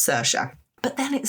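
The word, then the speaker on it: Saoirse: It mentioned the names Neve and Cersa in the headline. Nev being spelled N I A M H and C. S A O I R S E.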